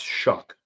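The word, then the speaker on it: Shough: And what I will say about this game is Tyler Shuck, who was a rookie. How in the is his name spelled or pronounced Shuck? There's no K in it.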